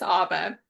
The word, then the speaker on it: Abba: A lot of people pronounce it Abba uh like the rock band, but it's Aba as in Aba father.